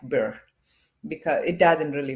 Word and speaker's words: birr: It's like, Oh, beer.